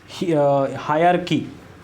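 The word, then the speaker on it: hierarchy: देखो हायरार्की, ठीक है, इसका प्रोनाउंसिएशन होता है हायरार्की, लेकिन इसका जो लिखा जाता है उसको लिखा जाता है हियरार्की।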